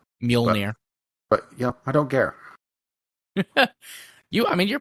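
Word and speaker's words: Mjölnir: Mjolnir. But I don't care. You're pretty close. I mean, the pronunciation is Mjolnir.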